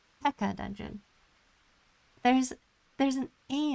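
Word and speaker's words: Peaca: This one I call Pekka dungeon. There's there's an A in there, but I pronounce it Pekka Dungeon. I think of it as a silent A.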